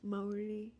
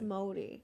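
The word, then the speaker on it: Māori: it's and there's some pretty hot ones M Morty Morty Morty m o r i it's like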